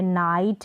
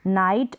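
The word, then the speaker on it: knight: यहाँ पर के साइलेंट है, जैसे नाइफ है, नाइट है, नाइट, और ये है नो, जैसे ये नो लिखते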